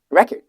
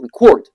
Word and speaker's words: record: Like record. The stress at the beginning, as you can see, all right? But it's a noun. But if you put it on the second syllable, record, right? It becomes a verb.